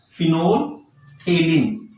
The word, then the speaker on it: phenolphthalein: Synthetic, you can give example of phenolphthalein. Phenol, just pronounce it as phenolphthalein.